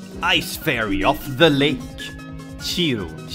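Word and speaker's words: Cirno: Chiru. How do you pronounce that? Cherno. Cherno. How is that Cherno?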